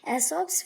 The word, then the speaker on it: Aesop: आगे है, many of this fables are believe to have been told by अ man named एसॉप, pronounced एसॉप, who lived in Greece over 2500 years ago.